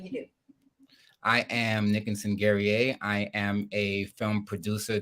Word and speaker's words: Guerrier: Guerrier. Did I say that right? No, I didn't. Guerrier. Guerrier. Guerrier. I apologize. I tried to ask you before. It rhymes with Perrier to make it easy.